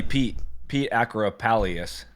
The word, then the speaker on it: Pete Actipis: And it's from our buddy Pete Acropalius.